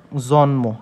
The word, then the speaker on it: জন্ম: দন্তন্য নিচে ম বসছে তখন উচ্চারণটা কেমন হবে জন্ম উচ্চারণটা কেমন হবে জন ম এই যে উচ্চারণ হচ্ছে কেমন জন্ম দন্তান্য নিচে হস্চিহ্ন মকারে ম জন্ম দেখছেন স্বাভাবিকভাবে উচ্চারণ হচ্ছে কিন্তু এখানে ম যুক্ত